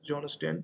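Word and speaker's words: Jon Stein: John stain basically johon Stan we can say pronounced John Sten the man basically launched the first Robo advisor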